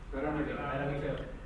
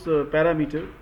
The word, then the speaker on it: parameter: Parameter. Most of you pronounce parameter. Parameter. The right is parameter.